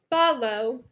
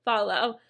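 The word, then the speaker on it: Fahlo: real quick it's called follow and it's like f-a-h-o-o but like I feel like you would pronounce it follow and basically there are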